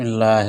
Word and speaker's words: اللہ: ہے وہ اللہ ہے۔ اس نام کا تلفظ انسانی زبان میں ایک منفرد موسیقیت رکھتا ہے، کیونکہ اس کے تمام حروف حلق سے ادا ہوتے ہیں، نہ کہ ہونٹوں سے۔ یہ الہی نام ہونٹوں